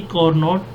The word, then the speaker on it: Carnot: it is pronounced, but it was invented by a French engineer Sadi Carnot, therefore it is pronounced as Carnot engine।